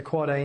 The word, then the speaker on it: AAA: surprised to learn there's an 8 AAA it's pronounced quite a record that's the ipv6 address of a host the quad-a name was chosen simply because the length of